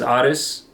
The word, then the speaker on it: Aris: My name is Aris, or Aries, depending on how you say it.